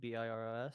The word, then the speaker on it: Biros: Round four, I sit down against Noah Biros. I think is how you say his last name. Biros.